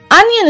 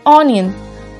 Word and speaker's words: onion: first word is onion onion is a vegetable that is widely used it is often incorrectly pronounced as onion because it starts with ow but it's incorrect the correct pronunciation is onion next broccoli b r